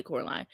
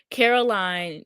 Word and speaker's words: Caroline: ass basement, and Caroline, I have to make sure I say her name right because I always want to say Coraline. Caroline, she had let him out and he was chasing her through the house.